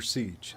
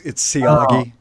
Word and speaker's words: Siagi: Yeah, it's Siagi. Siagi, kind of like Mr. Siagi. Miyagi.